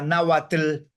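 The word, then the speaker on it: náhuatl: por los mayas porque los mayas acentúan todas las palabras en la última sílaba Entonces sería nauatl Pero Maya ya se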